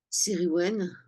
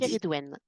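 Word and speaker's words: Ceridwen: La deuxième qui lui est accolée, qui est toujours du 31 octobre au 2 novembre, Sériwen, comment vous dites? Kéridwen. Le C se prononce G, c'est ça? Kéridwen.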